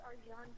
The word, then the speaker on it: Arcan: His name is Arjan Chetin, and he's from Turkey, so it's a little strange name, but it's spelled Arcan. And what was the last name? Chetin, Cetin.